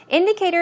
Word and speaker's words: indicator: Indicator in this case is, of course, a noun, and it's pronounced indicator. Stress goes right there.